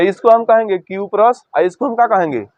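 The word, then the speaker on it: cuprous: उच्चारण आएगा तो हम क्या करेंगे क्यूप्रस का उच्चारण होगा क्यूप्रस, और जब ज्यादा संयोजकता है तो क्यूप्रिक।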